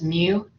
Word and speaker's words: mu: just put mu but you want to say it like the cat's mu and then variance we